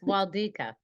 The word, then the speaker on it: Wlodyka: Wlodyka. Did I say it correctly? Yes, it's No. close. Wlodyka.